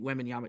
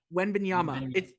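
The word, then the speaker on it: Wembanyama: in you know getting wanyama say his name one more time we banana no it's it's it's aama at the end wanyama wanyama yeah wanyama wama wenyama there I got it wenyama it's a it's Yama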